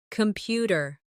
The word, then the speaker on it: computer: Computer. The stress is on the second syllable.